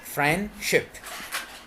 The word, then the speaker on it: friendship: Friendship. There is no de. Friendship.